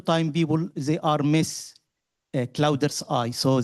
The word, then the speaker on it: CloudEARTHi: people they are is clouders eye. So they pronounce it like cloud earth e or cloud earth.